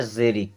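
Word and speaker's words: xeric: एक्स ईई आर आई सी इसे पढ़ना है जेरिक क्या पढ़ना है जेरिक एक्स आई पी एच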